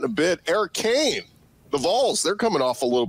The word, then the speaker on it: Vols: Yeah, it's Vols. You're saying it VAWLS.